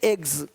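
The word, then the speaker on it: eggs: जैसे कि यहाँ पे रूप्स, यहाँ जा साउंड नहीं आएगा, लेकिन यहाँ पे एक्स नहीं एग्स।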